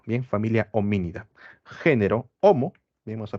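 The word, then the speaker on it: Hominidae: Cuando encuentran la palabra AE al final, la E es muda, se pronuncia solamente la A. Bien, familia homínida.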